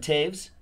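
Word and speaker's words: Toews: Jonathan Taves, 215 out of 299. I don't see a V there, but I've been told that that's how you pronounce it.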